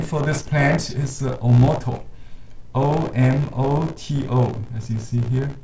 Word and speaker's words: omoto: oh the japanese name for this plant is omoto o-m-o-t-o as you see here the chinese names